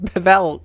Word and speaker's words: Bevelle: She pronounced Bevelle correctly that time.